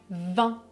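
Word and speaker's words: vin: Je prononce 20, 20.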